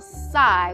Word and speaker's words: sigh: The next word is sigh. He will sigh when he is tired. Say it. Sigh. Tap it. S-I. Sigh. Now spell it. And you should have S-I-G-H. Sigh.